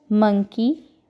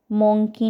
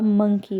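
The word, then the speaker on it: monkey: मंकी, बंदर। कैफ, बछड़ा। She Kaif and मंकी। मोंकी नहीं होता, मंकी होता है। ठीक है, so correct pronunciation is मंकी।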